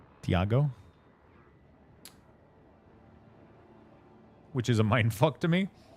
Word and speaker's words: Thiago: It's like, you know, James is Theiago. What the? Wait, I'm assuming in Portuguese you don't pronounce the a like that, right? Thiago, which is a mind to me.